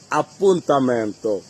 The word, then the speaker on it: appuntamento: আজকের পর থেকে আল্লাহর রহমতে ইনশাআল্লাহ আর এটা ভুল উচ্চারণ করবো না। আমরা আপুতা মানে এপয়েন্টমেন্ট। যদি বলেন আমার একটা এপয়েন্টমেন্ট দরকার অবিজনিয়দি উন আপুতামন্ত আমার একটা জরুরি অ্যাপয়েন্টমেন্ট দরকার অবিজনিয়দিন